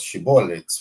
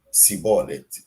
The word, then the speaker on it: Shibboleth: los enemigos, estos enemigos preguntaban, decís shibboleth, y este grupo, por una dificultad en la pronuncia de la palabra, decía Sibolet, y los mataban, porque era una contraseña, ¿no? Tenés que decir Shibboleth, y este grupo no sabía decir Shibboleth, entonces los mataban.